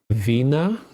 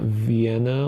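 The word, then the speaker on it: Wien: IE in German is pronounced like E. Ei is pronounced like I. So it would be uh Vina, not Vienna like English speakers of Vina.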